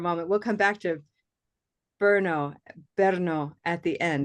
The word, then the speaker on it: Brno: I was wondering to see if we have, and then Mira has a very interesting city name, Brno, and that's intriguing to me.